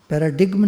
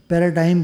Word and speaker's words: paradigm: पैराडिग्म नहीं है, पैराडाइम बोलते हैं इसको, बोलती भाषा में पैराडाइम।